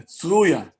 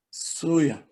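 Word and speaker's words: צרויה: Tzaddik, But in Hebrew, the Israelis call it the Tzruya. The real pronunciation have to be Surya. Surya, okay.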